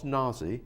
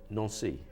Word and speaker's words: Nancy: no nearly nancy nancy your name is pronounced no so yeah france yeah not naazy yeah it's a non-si yeah in france they